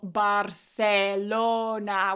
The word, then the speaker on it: Barcelona: of learning Spanish, is I always forget to say like "profesora" with a strong "a" sound or "Barcelona" with strong vowel sounds, and I say like "Barsa Barcelona" or I say like "profesora" with this schwa sound.